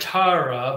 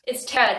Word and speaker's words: Tera: He said Tara, but it's Tera, T-E-R-A.